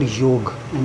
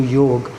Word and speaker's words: yoga: It is actually called yog and not yoga.